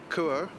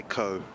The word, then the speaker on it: Kuo: I keep saying Kuo, but I'm just going to say Ko. I think it is pronounced Ko, right? It says I think it's sort of K-U-O. halfway between the two, kind of.